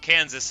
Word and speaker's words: Kansas: And there's a state directly next to us called Kansas, which is spelled the same way but without the A and the R at the beginning, and it is called Kansas and only Kansas.